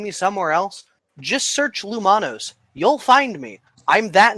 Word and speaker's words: Loumonos: I misspelled it when I was very young because I was an idiot and didn't understand pronunciation. But generally, I'm Loumonos everywhere, at Loumonos or Loumonos the Fox.